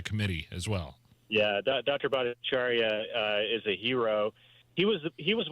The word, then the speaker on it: Bhattacharya: Jay Bhattacharya, is that? Yes. I'm pronouncing his name correctly, right?